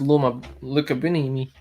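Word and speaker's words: Loma Lookboonmee: That's Loma Lukabini.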